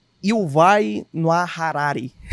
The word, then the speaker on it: Harari: Me ajuda aí com essa pronúncia, tá? É o E e Il vai no Harari.